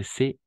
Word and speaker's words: ce: Uno es c'est, n'est-ce pas? C'est, y el otro es ce. D'accord? E ouverte, E fermé, E abierta y E cerrada.